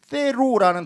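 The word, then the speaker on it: θέλω: 여기서 뜻대로에 해당하는 헬라어는 테로라는 단어입니다. 이 th 발음 번데기 발음이에요. 테로 이렇게 좀 어렵습니다. 발음이.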